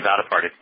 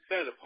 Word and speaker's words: Vaddiparty: Vaddiparty. Vaddiparty. Just like it looks. Vaddiparty.